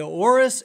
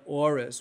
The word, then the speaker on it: auris: The big thing with this Candida auris is it's resistant to many different types of medications.